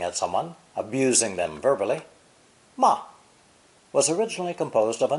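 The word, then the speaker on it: 吗: interrupted particle ma five the neutral tone ma is by far the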